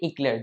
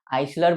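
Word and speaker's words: Eichler: हम जॉन जे इलर जॉन इलर बोल सकते हैं आइलर बोल सकते हैं आकर भी बोल सकते हैं य आपके ऊपर है स्पेलिंग होगा जे डॉट आई सी एच एल ई आर इसको आप आ आलर भी बोल सकते हैं इलर भी बोल सकते हैं और आइलर भी बोल सकते कुछ भी बोल सकते डोंट वरी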